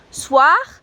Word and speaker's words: soir: quite literally boom SWA SWA is written s o I are bit spun up pronounced soo ah soo ah so that sound all